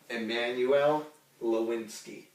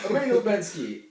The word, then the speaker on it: Emmanuel Lubezki: Emmanuel Lubezki. Good job. Good job. Good job. Emmanuel Lubezki.